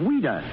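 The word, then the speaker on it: Ouida: French but English but why did she use the pen name of weeder because as a child that was the way she pronounced Louise she was a strange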